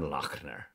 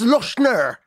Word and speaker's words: Lochner: Hell by Luca Senor last judgment by Stefan lochner I really am in the pocket today you